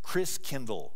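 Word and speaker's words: Christkindl: come from the Christ child and the German pronunciation of Christ child is Chris Kindle you know like kindergarten Kinder Care kind means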